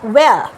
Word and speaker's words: where: Next হচ্ছে WHERE, ওয়্যার। এইচটা কিন্তু pronounce হবে না।